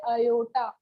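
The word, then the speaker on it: aorta: अच्छे से देख लेना, स्पेलिंग इज वेरी डिफरेंट, ठीक है, स्पेलिंग तो बहुत अलग है। इसको बोलते हैं अयोटा, अयोटा, अयोटा जो आपको पसंद है बोलिए, ठीक है।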